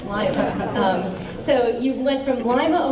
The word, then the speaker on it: Lima: They don't pronounce it Lima either, it's Lima.